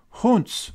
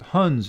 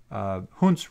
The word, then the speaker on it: Hund's: The name for this rule is called Hund's rule, sometimes pronounced Hund's rule, but Hund's rule is what this is called.